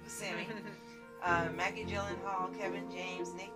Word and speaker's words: Buscemi: His correct pronunciation is Steve Buscemi.